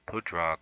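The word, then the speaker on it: Pádraig: I learned how to pronounce Pudrag. Now I know how to say Pudrag Peter Harrington, the golfer.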